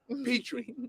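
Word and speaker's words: Pitre: on a receiver so petrie is a young man that uh you know you definitely what is it p-i-t-r-i p-tree you know that's the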